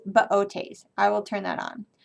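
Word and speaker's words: Boötes: has an umla or two separate sounds so it has an umlaut on it usually so it's baotes i will turn that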